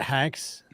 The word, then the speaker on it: HEX: Is it HEX? Does it start with an yes, H? It rhymes with it sex.